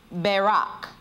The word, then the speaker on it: barak: in the um hebrew barak barak b-a-r-a-k the first a has a long a sound so it's talking about